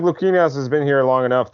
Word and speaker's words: Luquinas: If I remember correctly, correct pronounces Luquinas.